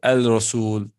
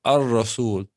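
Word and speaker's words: الرسول: You don't say Al-Rasul. You say Ar-Rasul. Muhammadun Rasulullah. Ar. Straight. The lam is silent.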